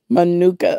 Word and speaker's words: Manuka: Is how it's pronounced. Manuka.